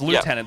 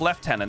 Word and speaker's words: lieutenant: Cuz everyone was like, "It's not it's lieutenant." They're like, "No, it's left tenant. That's the right way to say it."